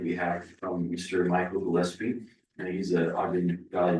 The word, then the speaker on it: Gillespie: This would allow for the owner to subdivide lot 2 of the, excuse my pronunciation, Gillespie Subdivision into 2 building lots. Gillespie. Gillespie, perfect, thank you.